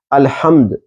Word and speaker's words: الحمد: ہے سورۃ الفاتحہ کی۔ الحمد، پہلی بات تو یہ ہے کہ تلفظ درست ہونا چاہیے۔ الحمد، تمام تعریفیں، حق کی ادائیگی صحیح ہونی چاہیے۔ الحمد، تمام تعریفیں، اور